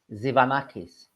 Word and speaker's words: Tzivanakis: tell me so so tell us how you pronounce it zanakis there you go it's easy isn't it when